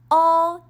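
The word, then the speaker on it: 어: Now let's attach another vowel, all, to all the consonants and practice reading Korean. This vowel is pronounced all. Although it's romanized as EO, it's really similar to UH. All, as in, uh-oh, something happened.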